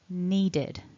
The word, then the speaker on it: needed: the long e vowel once it goes past tense it becomes a two-syllable word and we can notice with that mark top left that we stress the first syllable so needed now because need ends in a voiced consonant we're adding the id to represent that edie ending needed needed with our